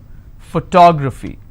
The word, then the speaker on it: photography: So this is my ending. I will stress here. Photography.